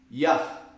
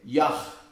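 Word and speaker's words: יה: vendo aí tá bem a primeira sílaba do tetragrama é ya é a primeira sílaba Gama atenção que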